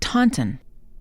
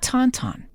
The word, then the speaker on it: Taunton: is a town in the Southshore of Massachusetts pronounced tanton ton or tten as I've heard over the years but not Tonton the Tonton is a species of snow lizard